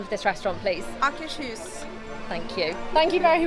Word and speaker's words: Akershus: How do you pronounce the name of this restaurant, please? Akershus.